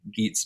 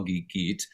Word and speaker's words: Gitte: have that and um the way that i say geet's name and i call geek but i usually i say geet and is how i would say that so if you're looking her up phonetically it's geet wintergrogard and i'll put obviously